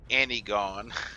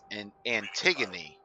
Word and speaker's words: Antigone: I've been saying Antigone. It's pronounced Antigone. Antigone. I represent the Antigone Trade Guild, and I've been told to present you with an opportunity to become a member.